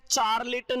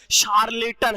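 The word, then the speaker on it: charlatan: अगला वर्ड है बच्चे, इसको पढ़ लेते हैं, चार्लेटन नहीं है भाई, उच्चारण सही कीजिएगा, इसका प्रोनाउंसिएशन है वो शार्लेटन है, शार्लेटन।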